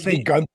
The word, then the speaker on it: Gunther: Gunther. So the German pronunciation is Gunther.